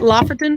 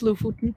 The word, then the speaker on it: Lofoten: My mom pronounces that Lofoten. It is no, it's Lofoten. Lofoten.